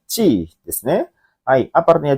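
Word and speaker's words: 血: Untuk soal nomor 6 ya, kanji itu ya, yang satu kanji itu dibaca adalah yang benar tuh nomor 2 minasang, yaitu bacanya chi desu ne.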